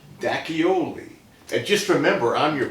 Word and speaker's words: D'Acchioli: How do you say your last name? Dacchioli.